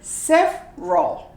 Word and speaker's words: several: okay here we go several several you don't you omit the e and you say sef raw separate how about that